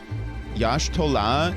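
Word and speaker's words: Y'shtola: enough to know that it's not the Y is not pronounced like a You know how wida the Y is like a double E. Yash Taha is different. It's a yash. It starts with a yash, man.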